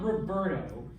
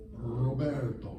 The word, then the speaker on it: Roberto: same sound if um it's at the beginning so that's not roberto what is that roberto muy bien yeah even